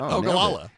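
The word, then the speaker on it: Ogallala: Ogalala in Nebraska. Why do you butcher Okala? Is that how it's said? Yeah, you just said it. Okala.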